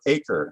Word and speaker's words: Acre: of the kingdom of acre another pronunciation of akko and the successor kingdom